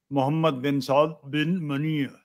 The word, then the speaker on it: मोहम्मद बिन सौद बिन मनी: इनका पूरा नाम मोहम्मद बिन सौद बिन मनी, ये असली अरबी प्रोनाउंसिएशन हुआ।